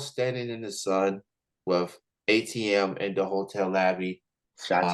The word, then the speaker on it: AyeTeeM: it is that people be doing uh so a TM a ye t m on Twitter well yeah